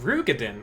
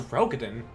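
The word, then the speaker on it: Roegadyn: Oh, it's pronounced Rugadin. I thought it was Rogadin.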